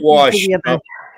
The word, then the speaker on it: wash: main water bodies no Upper Midwest does not put the letter r in the word wash we do not do